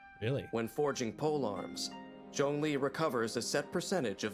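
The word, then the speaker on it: Zhongli: them all and yet the mysterious funeral consultant jeong lee seems to know them like the back of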